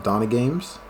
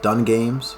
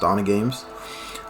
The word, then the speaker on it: Donna Games: My name is Donna Games. For starters, I know it's pronounced, it looks like it's pronounced Dun Games, but it's actually pronounced Donna Games.